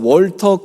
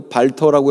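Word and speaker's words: Walter: 제가 존경하고 또 좋아하는 군인 중에서 월터 크루거라는 분이 있습니다. 이분은 1881년에 태어났고요. 독일계 이민자입니다. 그래서 월터라고 해도 되고 발터라고 해도 크게 틀리지 않아요. 이 W 발음을 독일에서는 B로 읽잖아요. 그래서 발터 크루거, 월터 크루거 똑같은 말인데, 이분은 특이점이 뭐냐?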